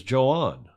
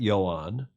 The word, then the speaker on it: Joan: i had to go look up the proper pronunciation it is joanne it's not yon it's not juan it's johan and i checked that today in spanish it's joanne cardona he's only 23 or 24.